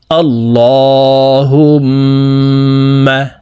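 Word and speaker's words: اللهم: শব্দ উচ্চারণ হয়ে যাবে আল্লাহুম্মা আল্লাহ এই লামকে ল অর্থাৎ মোটা করে পড়তে হবে কারণ আল্লাহ শব্দের আগের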